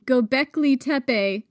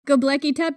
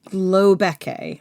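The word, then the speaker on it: Göbekli Tepe: I thought that the pronunciation was globeke, like a globe.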